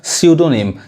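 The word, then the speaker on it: pseudonym: अब यहाँ भी देखिए, यहाँ भी पी साइलेंट है, पी नहीं पढ़ाएगा, क्या पढ़ाएगा, स्यूडोनिम, स्यूडोनिम, इसका मतलब क्या होता है, उपनाम, समझ में आ रहा है।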